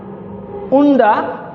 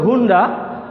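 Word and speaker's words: Honda: House হচ্ছে অনেস্ট ম্যান, হনেস্ট ম্যান বলা যাবে না। উন্ডা বলা যাবে না, বলতে হবে হুন্ডা। এটা বলতে হবে আওয়ার, কিন্তু কখনোই বলবে না হাওয়ার। এই সাইলেন্ট, এখানে এই সাইলেন্ট, এখানে এই সাইলেন্ট।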